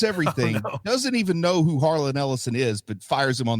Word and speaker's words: Harlan Ellison: Harlan Ellison.